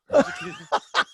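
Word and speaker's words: Gerr: Gurr. He's a fat white kid too, named Nicholas Gurr. Oh, that's terrible. Oh. It's G-E-R-R. There's no like hiding how you pronounce his last name either.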